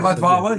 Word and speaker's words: Latvala: Did I pronounce his? Did I get that right? Yeah, Yeah, Latvala.